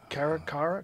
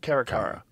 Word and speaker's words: caracara: Caracara? Caracara.